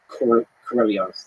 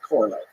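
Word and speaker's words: Королёв: how to pronounce Sergei Korolyov's name. And I'm still going to say it wrong no matter what. My understanding, and from listening to native speakers, it's closer to Korolyov than it is Korolev.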